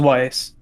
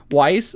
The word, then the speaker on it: Weiss: do you pronounce it it's just Wise Wise okay I always think it's like Luis but I'm like that's not right because he told me